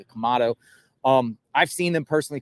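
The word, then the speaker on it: Quemado: the morning timeing and kamado I I I always say the name wrong it's q m a d o I think kamado um I've seen them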